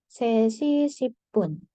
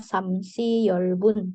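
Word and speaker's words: 세 시 십 분: sampai sini aja ya sesipun jangan terbalik jadinya samsiolbun tidak ya Oke kita lihat lagi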